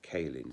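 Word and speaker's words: Caelin: bit a little bit wrong symbol c-y-n-i-b-i-l and kailin c-a-e-l-i-n they those two also became priests and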